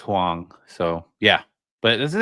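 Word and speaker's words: Huang: how do you say his last name Jensen Hong Hong it's weird it's because there's like two different ways to spell that last name but yeah it's pronounced hang so yeah but this is exciting man like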